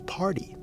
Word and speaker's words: party: t in it but the T itself has a D sound right it has that flap T sound so the flap t